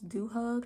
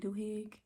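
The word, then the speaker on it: Duhigg: was written by Charles dooh hug I think that's how you say his name doig doig Charles DG is a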